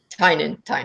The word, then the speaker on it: Tynion: Tynion.